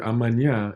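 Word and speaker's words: amanhã: you have closed vowels in this word amanya you actually have all three so you would start off with ah that's your Open my that's your mood yeah and that's your closed yeah and when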